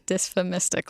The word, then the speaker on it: dysphemistic: That's a tough one to pronounce. Give it to me. It is dysphemistic language.